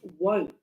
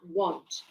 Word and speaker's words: won't: an emphasis on that it's won't not want yeah because some people sometimes mistake the pronunciation they what was it the other day one of the students was saying to no I want I want I'm like why no won't yeah yeah yeah won't like